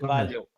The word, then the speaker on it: Carvalho: I'll teach you how to pronounce it. It's Go ahead. Carvalho.